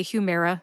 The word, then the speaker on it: Humira: uh Humera Humera now the second syllable mayor gets the emphasis what does that mean gets the emphasis it means you stress mayor more than the other syllables see if you can